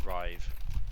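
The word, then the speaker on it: Ryv: I think that's put in the chat that is apparently pronounced Rive. Thank right. you. Okay. Thank I'll- you. R-Y-V. That's very helpful. Yes. Thank you. I'll go with Rive then.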